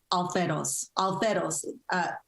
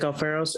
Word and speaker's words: Alfaros: new cssa president isaac alferos correct me if i didn't pronounce it correctly to provide his first report yes you pronounced it correctly thank you uh thank